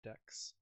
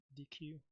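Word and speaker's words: deque: I generally uh call those decks for pronunciation or call the variable deck. It's called DQ.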